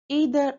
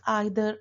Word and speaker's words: either: Some of the coordinating sorry some of the correlative conjunctions are both and either or. You can also pronounce either or. Both the ways are correct. Neither nor or you can also pronounce as neither nor.